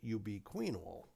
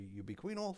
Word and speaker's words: ubiquinol: Some people pronounce it ubiquinol. I'm happy either way. Nobody's decided there's the proper way to pronounce it. But in any event, ubiquinol, which is the way I pronounce it, and if you want to say ubiquinol, fine.